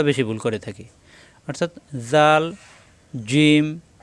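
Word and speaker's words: ذال: তাহলে আমাদের কোরআনুল কারীম তেলাওয়াত করতে গিয়ে হরফের উচ্চারণে আর ভুল হবে না এই হরফটা জাল এইযে দেখুন দাল দালের উপর এক নক্তা আসছে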